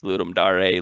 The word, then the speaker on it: Ludum Dare: So it's Ludum Dare, Ludum Dare, Ludum Dare.